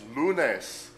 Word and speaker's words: lunes: First day of the week is pronounced lunes.